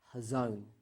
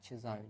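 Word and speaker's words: חזון: to on the pronunciation, most of the time we pronounce it with a CH, a ch sound, but I think in the original it's actually a h. It's a silent C, and I think it's hazon is the actual original way to pronounce this word. But most of us pronounce it with a ch, like chazon, but it's actually, I think, hazon.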